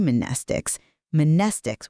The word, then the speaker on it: mnestics: Class W, X, Y, and Z mnestics with a silent M.